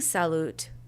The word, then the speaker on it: salut: the word is salute I'm saying salute but it's spelled s-a-l-u-t so if I'm gonna say it the way it's spelled to me it sounds like I'm saying Sal you know and if people greet each other I think imagine how that would come off the U is often an ooh sound right because the way